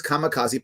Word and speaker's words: kamikaze: probably heard of the famous or infamous japanese kamikaze which is actually should be pronounced kami kaze which actually means divine wind